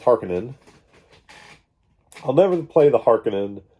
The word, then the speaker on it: Harkonnen: never played the harkonnen which i for years and years pronounced harkonnen which is not right apparently it's harkening i'll never play the